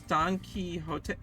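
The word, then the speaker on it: Don Quixote: myself was partially also if you're still having trouble pronouncing their names it's Don Key hot oh oh my God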